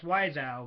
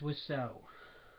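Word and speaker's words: Wiseau: by Tommy wow which I always pronounce wiso because that's how it's spelled but no it's was so now how's your sex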